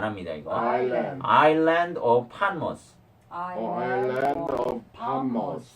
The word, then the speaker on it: Patmos: 발음 안 합니다. 이거. Island. Island of Patmos. Island of Patmos. 네, 여기 반모섬 나오죠, 그죠? 네. 파모스. 판모스예요. 판모스.